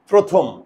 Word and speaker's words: প্রথম: দেখো তো, আমি যদি মুখের চোয়াল দ্বারা শিখি, প্রথম প্রথম প্রথম, আমার মুখের চোয়াল খুলে না, মুখের চোয়াল না করলে সব ওকার।